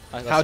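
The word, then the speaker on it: Hau: Okay, my last name is How. H-A-U sounds like the word how.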